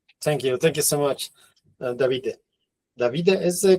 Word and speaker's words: Davide: Davide is the correct pronunciation? Davide. Yeah, you stress the first letter usually in Italian.